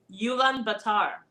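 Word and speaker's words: Ulaanbaatar: I don't know if I know how to pronounce this but it's Ulan Batar is the best way I could pronounce it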